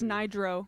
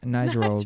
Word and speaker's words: Nidro: No, it's Nidro. Nidro. Nidro. Nidro. Like hydro? Yeah. Just like exactly.